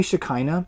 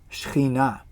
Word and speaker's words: Shekinah: Shekinah glory of god if you want to say it right don't say Shekinah and don't say Shekinah say subpoena subpoena is how we actually say it in Hebrew so the Shekinah left